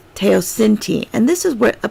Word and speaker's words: teosinte: it says teh oh these capital letters tell me what part what syllable to emphasize sin T tayo sin T so I know I